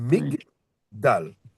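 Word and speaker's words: מגדל: Elle est là juste pour nous indiquer que c'est la fin de la syllabe.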